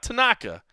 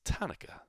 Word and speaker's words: Tanaka: deathly using this week it's not Tanaka it's tanyka which kind of made